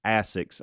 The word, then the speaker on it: Asics: but I had not I had never heard of that company pronounced Asics until this year so that is interesting I have never I haven't heard that either I tried to argue with him it turns out they were right you know you've talked